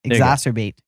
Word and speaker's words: exacerbate: exrate strob bate exrate how are you supposed to say it exacer exacer bait bait exacer bait there you go you did it okay like subscribe comment